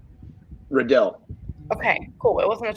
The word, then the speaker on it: Redell: Redell.